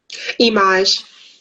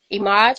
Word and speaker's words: Eimaj: say your name correctly image image oh okay I thought it was but I did not know and I do not like to mispronounce anybody's name that's fine yes my middle name backwards oh okay there you